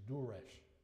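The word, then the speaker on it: Durrës: And it's, I don't know how Albanians pronounce things, but my best attempt is Durres. But I'm not sure that's right.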